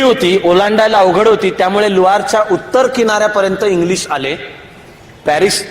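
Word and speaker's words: Loire: ती मधली एक नदी आहे नदीचं नाव आहे लुआ एल ओ आय आर इ यापुढे दर वेळेला आता मी स्पेलिंग सांगत बसणार नाही मी सांगेन तो उच्चार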